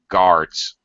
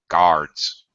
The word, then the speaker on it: guards: because of the UA just basically pronounce it as if the U wasn't there guards guards just guards just like cards I like to play